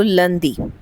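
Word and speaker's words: lundi: सो लंदी।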